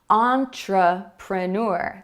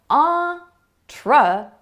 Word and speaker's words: entrepreneur: Let's try another word. Entrepreneur. Did you hear the schwa sound? It comes after the first stressed syllable. Entrepreneur.